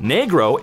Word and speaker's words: negro: Negro, pronounced negro, is the appropriate word a Spanish-speaking child would use for the color black.